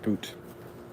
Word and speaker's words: Bout: understand everybody's meming with Victor bout or boot excuse me it is pronounced boot didn't understand it he's